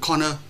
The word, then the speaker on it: corner: Ví dụ in the corner of, từ corner có hai âm tiết thì chúng ta phải biết là rơi vào core. Vậy trước hết chúng ta phải phát âm đúng in the corner of chứ không phải in the corner of.